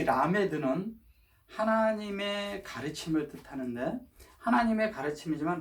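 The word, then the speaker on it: למד: 이 라메드는 하나님의 가르침을 뜻하는데, 하나님의 가르침이지만 라메드는 또 제자라는 뜻도 있거든요. 자, 라메드는 글씨를요 이렇게 씁니다.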